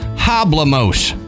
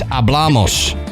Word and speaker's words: hablamos: i wouldn't know it i'd read it and go oh yeah hablamos and they're like no it's it's hablamos and you you need the